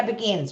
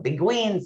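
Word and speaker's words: Beguines: about them and you is am i not pronouncing that right yeah begins we were saying it wrong you can see earlier interviews that we call them big queens and then the british came and they're like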